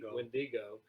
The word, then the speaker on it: Wendigo: You know, you've got the you pronounce it Wendigo.